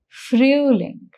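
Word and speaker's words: Frühling: Mark the sound of Om here that is the sound is ooh. So the pronunciation becomes fruing.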